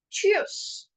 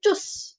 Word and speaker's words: tschüss: Cheers. So don't say tschüss. Don't say tschüss. Say cheers. Cheers.